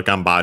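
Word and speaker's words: 頑張る: Uh so yeah be careful and by the way yeah again we have to change from haru to bar.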